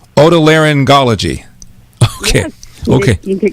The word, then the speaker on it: otolaryngology: How do you pronounce it? Otolaryngology. Otolaryngology.